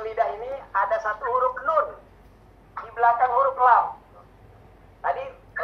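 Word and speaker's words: ن: ini ada satu huruf nun di belakang huruf lam. Tadi lam, sekarang mundurin ujung lidahnya, mundurin berapa senti? Nun. Nah, gitu ya. Ujung lidah kita menyentuh langit-langit setelah huruf lam.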